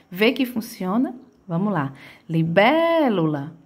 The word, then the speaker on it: libélula: Então, ela tem 4 sílabas. Libélula. Lá é a minha última sílaba. Lu é a minha penúltima sílaba. Bé é a minha antepenúltima sílaba. Peraí. Ela é a antepenúltima sílaba e ela é acentuada.